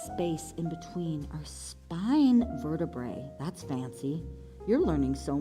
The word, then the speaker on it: vertebrae: It opens up space in between our spine vertebrae. That's fancy. You're learning so much, kids. Vertebrae. Vertebrae. 3 syllables.